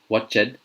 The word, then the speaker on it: watched: I've heard it being pronounced stopped, or watched, or finished.